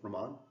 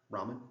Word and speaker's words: Raman: 2D semiconductor characterization with Raman Ramen sorry I keep slipping back and forth between those two pronunciations and I think the second one is correct and I apologize if